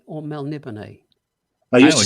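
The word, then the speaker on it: Melniboné: You say Melnibone or Melnibone? I used to say Melnibone. Now I say Melnibone. I've always said Melnibone. Oh, typical Texan exceptionalism. Actually, it's Melnibone. I think it's the Spanish pronunciation.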